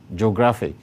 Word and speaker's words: geographic: And because the emphasis is on the second syllable, it is stressed as follows.